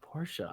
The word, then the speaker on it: Porsche: it yes it's well the fact that we pronounce it as a two syllable name is what's snobby snooty boujee i don't know yeah i don't care what you say it's a two-syllable word in my opinion porsches are the benchmark